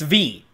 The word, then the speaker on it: Vi: bug fables with v simulator her name's not pronounced like vi by the way it's it's her her sister's